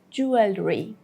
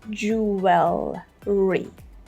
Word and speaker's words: jewelry: In both the UK version and the US version, we would say jewelry, jewelry, jewelry. Yeah, we have a combination of L and R here, which I guess would